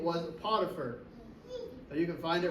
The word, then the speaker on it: Potiphar: what his position was and his name was potier you can find it right there in the Bible but it's spelled p o t i p h a